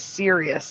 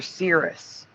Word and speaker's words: Sirius: The current reality is Sirius. Like it's a serious star. But I remember Cirrus.